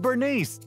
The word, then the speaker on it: Burnice: thing I do that legendary biker gang and Bernice the master mixologist from the that's how you